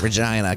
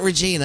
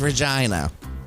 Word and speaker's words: Regina: That is how you pronounce that, Regina, Canada. Regina? That's how you pronounce it. It's not Regina, it is Regina.